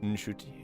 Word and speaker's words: Nshuti: you actually kind of pronounce the N at the beginning a little bit. Nshuti.